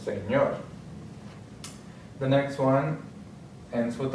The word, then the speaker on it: señor: Next one ends with a consonant, so the accent is going to be, the stress is going to be on the last syllable, señor.